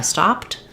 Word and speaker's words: stopped: but don't be confused if I just say I stopped you're going to hear that p and t sounds that consonant cluster the